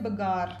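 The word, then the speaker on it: Bagor: आप गुजरात में एक जगह है लंगांच पाडन प्रोनाउंसिएशन लंगांच बोल रही हूं मैं इसको और राजस्थान में एक जगह है बगार बी ए जी ए आर और ये दोनों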